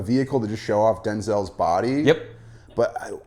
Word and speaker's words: Denzel: Denzel's not correct? In fact, most people have been pronouncing it Denzel, and it's Denzel. My name's not pronounced Denzel. My name's pronounced Denzel.